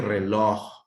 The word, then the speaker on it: reloj: Igual que reloj, reloj. Separo en sílabas, reloj. ¿Dónde está la mayor intensidad? Reloj. En loj, ¿se fijan? En loj, en la última sílaba.